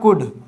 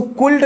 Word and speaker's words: could: ठीक है, ये कुड है, इसका प्रोनाउंसिएशन रहेगा कुड। इसको कुल्ड नहीं पढ़ना है, कुछ बच्चे पढ़ने में गलती करते हैं, इसको कुल्ड पढ़ते हैं, तो इसका प्रोनाउंसिएशन कुड पढ़ना है हमको।